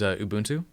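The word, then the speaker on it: Ubuntu: just gets the most familiar with it is a boon to notice I said it right just because it's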